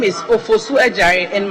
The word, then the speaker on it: Adjare: My name is Ofosu Ejare, and my Ejare is spelled Adjare.